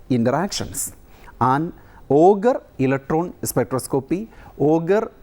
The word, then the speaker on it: Auger: And Auger electron spectroscopy, Auger is pronounced as Auger, Auger electron spectroscopy is the right way to pronounce it.